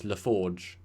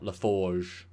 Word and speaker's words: LaForge: Like, he pronounces his name wrong. I guess he could be a French Romulan, but it's LaForge, not LaForge.